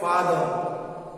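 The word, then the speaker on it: father: ऐसे सी ए आर का, एफ ए टी एच आर फादर, एम ओ टी एच आर मदर, SIS किया sister, are हम pronounce नहीं करते हैं।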